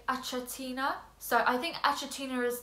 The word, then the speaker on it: Achatina: the common term but I grew up saying a chiter so apologies if I slip up throughout this video but for the sake of this video let's try and say it right so it's achatina uh Immaculata so when